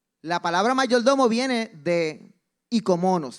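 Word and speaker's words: οἰκονόμος: La palabra mayordomo viene de ikomonos, se escribe oikomonos, pero se dice del griego ikomonos, que ikos es casa, nomos es ley y es la ley de la casa.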